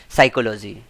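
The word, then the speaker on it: psychology: साइकोलॉजी और इसमें P silent रहता है।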